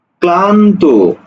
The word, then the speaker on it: অক্লান্ত: দেখো শব্দের মাঝে আছে, ঠিক আছে, তাহলে যার সাথে থাকবে তার কি করবে, দ্বিত্ব করবে, তাহলে উচ্চারণ কি হবে, অক্লান্ত, অক্লান্ত করে তো, অক্লান্ত, ঠিক আছে।